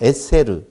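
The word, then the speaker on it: עֶשֶׂר: 사전에서는 에세르로 나오고 여기 문장에서는 아세레트로 나온다고요. 그 다음에 하데바림이라고 하는 말, 다바르라고 하는 단어인데요. 다바르, 하데바림이라고 하는 단어인데요. 이게 아세레트라고 하는 에세르는 열.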